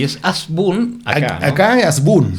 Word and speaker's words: Hasbún: no es hasbun, es asbun. Y luego me enteré que como es de origen árabe, exactamente, en el idioma árabe la H se pronuncia como J, por lo tanto es jasbun.